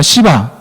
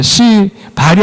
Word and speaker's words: 시바: 시바 죄송합니다. 시 발이 아니고 시바입니다. 시바 예 시바가 발음을 조심하겠습니다. 이렇게 힘을 주면 안 돼. 여기는 그냥 힘을 빼고 시바 예 시바가 이렇게 도망 도망가는 다윗을 뒀습니다.